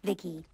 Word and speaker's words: V.I.C.I.: for you by the way yep i'm vici pronounced vicky came out here to collect samples for vivisecto